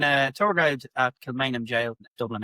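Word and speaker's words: gaol: is is this kilanum go? just gently correct them is actually it's pronounced jail. So yeah, it's the old way of spelling jail. So it's pronounced the same as J A I L.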